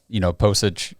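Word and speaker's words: Pocic: After Nick Harris went down, I want to see, Postage.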